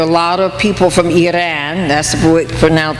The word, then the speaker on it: Iran: There are a lot of people from Iran, that's the correct way to pronounce it.